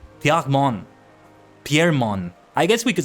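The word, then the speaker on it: Pierremons: I assume it's like Piermon. Piermon. Piermon. I guess we could say Piermon, but I think it's very important that we don't pronounce that S at the end.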